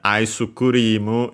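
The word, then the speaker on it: アイスクリーム: By the way, the u in isuru is uh the u for s is barely heard if at all because it's between between unvoice consonants.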